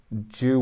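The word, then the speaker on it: João: that probably yeah um giao felix is apparently jew wow felix okay yeah uh john moutinho is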